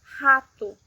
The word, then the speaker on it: rato: When at the beginning of a word, it sounds like the H in English, h, h, h, as in rato, mouse, rato.